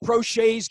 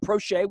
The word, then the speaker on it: Proche: James Prochet's getting underneath kicks all the time, so we don't call him Proche, we call him Prochet.